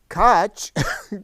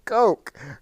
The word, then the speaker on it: Koch: So, of course, they don't want to be called Koch, so they call themselves Koch.